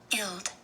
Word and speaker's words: guild: how they pronounce it guilt guilt you don't hear very much of the G but it is there and it is a short I he's a trapped I so he can't sing unless he was to